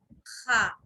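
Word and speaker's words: خ: Next letter, this letter is known as Kha. Kha. Kha. To pronounce this letter, we need to rub our throat little bit.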